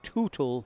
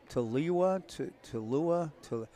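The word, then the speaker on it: Tooele: It appears in the roster as though Hagen is from Tootle, Utah. But he said it's weird. It's pronounced to I think he said Tulua.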